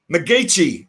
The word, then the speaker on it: McGeachy: McGEACHY is the pronunciation, and Jimmy has done a lot of things.